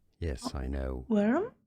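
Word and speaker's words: wyrm: Worm. Yes, I know. Worm? Just like WORM.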